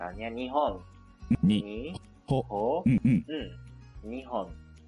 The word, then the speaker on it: 日本: Jadi dia bacanya dengan onyomi yaitu hon, nihon.